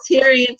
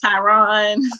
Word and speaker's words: Tyrion: Like, she calls Tyrion Tyron. Like, that's not his name. Tyron. Say his name right.